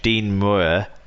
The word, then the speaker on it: Muir: And finally, Keighley Reserves coach Dean Muir, that's how you pronounce it.